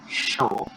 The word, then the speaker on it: chaud: Il fait très chaud. Ini show ya, bukan show. Show.